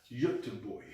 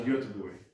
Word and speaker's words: Göteborg: You know, of my Sweden. wife says that I say that wrong. Can you say it for me? Say it again. So Göteborg. Göteborg. Göteborg. I mean, your accent puts a lot of emphasis on the wrong places, but it works. Well, where's the emphasis go? Göteborg. Göteborg. Göteborg. Göteborg. Your is wrong. That's where the issue lies.